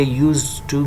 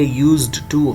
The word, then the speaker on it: used to: और याद रखें यहाँ पे यूज टू में हम डी को नहीं पढ़ते, डी साइलेंट होगा, यूज टू कहेंगे, यूज्ड टू गलत होगा।